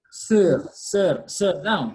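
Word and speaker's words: sur: So here, the letter R is not silent. So we say sir, okay?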